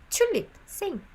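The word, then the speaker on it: 튤립: tulip by the way the korean pronunciation of tulip is chulip you see lots of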